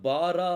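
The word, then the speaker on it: ברא: எழுத்து சேரும் போது இதை பாரா அப்படின்னு சொல்லி சொல்லுவாங்க பா ரா வாரான்னு சொல்லக்கூடாது இது என்ன சொல்லணும் பாரா அப்படின்னு சொல்லி சொல்லணும் ஏன்னா பெத்துக்குள்ள என்ன இருக்கு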